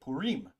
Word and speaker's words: Purim: that right let's see let's uh play the audio Pim Pim P Pim Pim Pim puim Pim all right so that's how you say it puim all right so it's